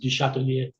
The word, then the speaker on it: Duchatellier: Duchatellier. It's All right. it's French, so it's really pronounced Duchatellier.